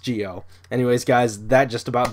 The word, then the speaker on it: Zi-O: or you know it's written zo but it's pronounced Gio anyways guys that just about does it for